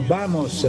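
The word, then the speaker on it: vamos: No hai ragione Riccardo la V si pronuncia B come Bam no quando dicono bamos bamos bamos animo bamos si dice B Allora belle avevamo la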